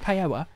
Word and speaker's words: paella: yellow or how jabber it's not peanuts paella it's pronounced paella or whatever the [